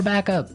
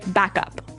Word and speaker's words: backup: important hey yes yes you have to say backup Backup backup yeah so both words are stressed at about the same level hey mhm back up